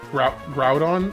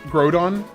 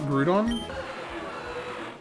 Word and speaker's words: Groudon: It's It's It's Groudrodon, not Grudon. I always thought it was Grudon. All right. If I can fit the name, I know what I'm going to call it. Groudon. Like Growl.